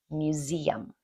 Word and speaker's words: museum: It's yum museum. Museum. Okay. There's a little Y sound in there.